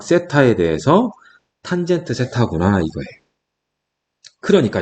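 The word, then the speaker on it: θ: 직각삼각형에서 요 각을 세타라고 했을 때, 이거 세타라고 읽어요.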